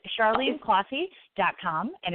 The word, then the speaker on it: Closshey: nailed it perfect Oh awesome so it's Charlene classy calm and it's spelled CH AR le E and E last